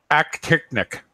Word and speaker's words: actinic: How do you spell that? Aquatechnic? Actinic.